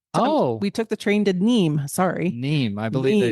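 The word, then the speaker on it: Nîmes: do you spell that n i m s yes I always think of it as Nim or Nims uh but it's pronounced neem and so we took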